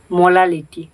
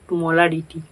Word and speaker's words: মোলালিটি: তো সলিউশন পড়তে হলে তোমাদের সবথেকে প্রথমে যেটা জানতে হবে মোলালিটি, নট মোলারিটি, মোলালিটি।